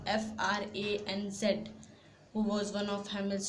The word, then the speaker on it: Franz: Hamel, who was the French teacher, and Franz, it's pronounced Franz, Franz, who was one of Hamel's students, and they both belonged to the district of Alsace.